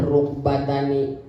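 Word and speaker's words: رُكْبَتَانِ: Arukbatani adalah dua dengkul, wa huwa bidomiroi wa sukunil kapi, bacanya rukbatani. Rukbatani itu mafsolun mabaina atrofil faji, tulang sandi yang nyambung antara paha dengan bitis, itu namanya rukbah.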